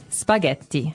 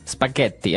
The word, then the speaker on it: spaghetti: Spaghetti. Spaghetti. Oh, you pronounced the double T as well.